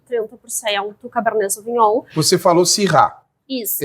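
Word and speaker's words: Syrah: cab vinh você falou sir isso e Alguns chamam xir isso você falou sir tem diferença nessa pronúncia ou não existe uma diferença de estilo tá a casta é a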